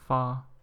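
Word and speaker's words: 发: It's pronounced as ba, and the reason why it's auspicious, why it's regarded as auspicious, is because prosperity in Chinese is pronounced as fa, and this is pronounced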